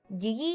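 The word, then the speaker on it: gege: So, I think it's giggy. I think it's giggy. I think it's pronounced that way. It's G E G E, but you know how you pronounce it's going to be very different.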